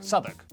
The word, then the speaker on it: Southwark: stir leicester worcester gloucester w at the start of the final syllable is silent norwich beric southwark er is pronounced r